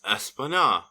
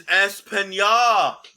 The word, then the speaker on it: España: couple behind Drag Race España. I mean... Hold on a minute. You want to have sex with Latin boys and you can't even pronounce a tilde over an N? It's España!